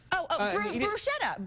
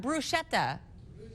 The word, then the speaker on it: bruschetta: Bruschetta. Bruschetta. That's what I've always said, bruschetta.